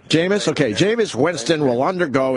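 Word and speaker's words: Jameis: vulgar how do you say his first name jamus jamus okay jamus Winston will undergo internal discipline and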